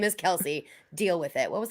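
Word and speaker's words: Kelce: off season when travis kelsey was like my last name's actually pronounced kels and the entire football world just said nope you took too long we're still calling you cassie kelsey you can't you can't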